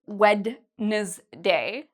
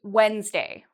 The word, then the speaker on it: Wednesday: Okay, for days of the week, we don't say Wednesday. We say Wednesday. So it's actually two syllables. Wednesday. Wednesday. So actually this E you can even take out.